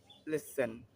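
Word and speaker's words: listen: টা silent word ও টি টা silent word কি করবো জানিনা তো লিসেন লিসেন মানে সোনা সোনা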